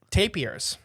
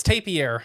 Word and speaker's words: tapir: Tim the Tool Man Taylor I know oh tapers that's close good seg way no if you've never guys never seen there's a bunch of species of tapier which we'll talk about tapier not taper it's tapier is how you actually pronounce it I even